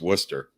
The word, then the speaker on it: Worcester: called W it's it's spelled Wester but it's pronounced Worcester um he was a Jewish kid who wore